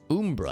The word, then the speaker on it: Umbra: So it's Umbra. I've been mispronouncing it all these years.